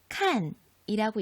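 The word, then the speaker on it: 看: 중국어에서 한 글자, 칸이라고 읽습니다.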